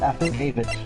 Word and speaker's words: affidavit: It's pronounced affidavit. You put the emphasis on the second syllable. It's wait. Say it again. Affidavit. Affidavit. It's affidavit. Yeah. It's and then the like in lemon, and then David.